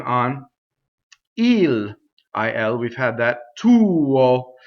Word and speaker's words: tuo: So often with the word tuo, you'll see only one note. It's considered one syllable and a semivowel, but you'll have to actually make two notes to sing that, right?